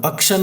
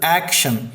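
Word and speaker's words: action: ಆ ಅಂತ ಅಂತ ಆಗುತ್ತೆ ಇಲ್ಲಿ ಆಕ್ಷನ್ ಅಂತ ಬಂದ್ರೆ ಅಲ್ಲಿ ಆಕ್ಷನ್ ಅಲ್ಲ ಅದು ಅಕ್ಷನ್ ಅಲ್ಲ ಅದು ಆಕ್ಷನ್ ಈ ಅಕ್ಷರ ಕನ್ನಡದಲ್ಲಿ ಇಲ್ಲ ನಾವು ಈ ತರ ಬರಿಬಹುದು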